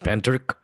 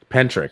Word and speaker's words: Pentyrch: a very compelling um tale and apparently it's pronounced pentri pentri yeah all right well if you enjoy this